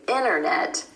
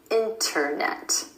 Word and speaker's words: internet: The reason for this is because the N and the T sound are both made at the ridge behind your top front teeth. It's easier to drop the T sound out instead of doing a double tap. It's easier to say internet than internet. Over time, this easier pronunciation